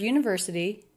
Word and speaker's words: university: Okay, so the word university, 5 syllables long. Stress on the third syllable. University. Ver. This has the vowel, the R vowel consonant combination, just one sound. University. And the T is a flap T.